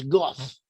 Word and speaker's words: Gad: Gad has a name "Gad" which in Hebrew, in Ancient Hebrew could have been pronounced as "Goth."